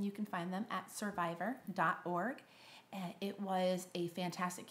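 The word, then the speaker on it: Cervivor: that I have gotten to know through my survivor groups and it's time to end this it's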